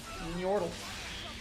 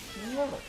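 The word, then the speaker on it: Nyortle: Yordle. That, if you're wondering how to spell that, it's N-Y-O-R-T-L-E. Yordle.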